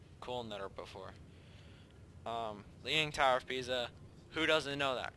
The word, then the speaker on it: Pisa: Leaning Tower of Pisa. Who doesn't know that? Because it rhymes with pizza.